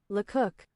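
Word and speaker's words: Lecoq: So that's not Luk. L cook. Okay. L cook. Okay, I see. Not not quite the pronunciation I thought it was going to be, but close enough. It is French.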